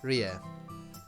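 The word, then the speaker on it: Rie: or R ow XR e is pronounced but it's more of an uh sound okay Ria Ria I think like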